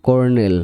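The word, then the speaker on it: colonel: ফেব্রুয়ারি মানে ফেব্রুয়ারি মানে একটা মাস ফেব্রুয়ারি তারপর কর্নেল মানে সামরিক পর সি ও আর সি ও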